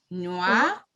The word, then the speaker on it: noir: So what can we see? We have different spelling, but the pronunciation is going to be the same. We know E, it's silent at the end of a word. S going to be silent as well. So this is masculine, feminine, plural, and plural, but they are we're going to pronounce all at the same way.